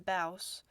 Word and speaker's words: BAOS: to tell you that i am working on baus yeah that's how you say it mouse and that um it's